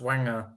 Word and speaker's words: Wenger: That started it's not pronounced Wenger, it's pronounced Wenger.